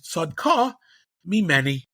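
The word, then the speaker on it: צדקה ממני: And Yehuda says, Sadka mimeni, right? Famously, she's right. I should say it right correctly. According to Rashi, the pshat is Sadka mimeni.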